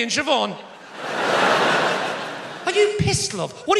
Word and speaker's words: Siobhan: are you talking about bh is pronounced v no it's not love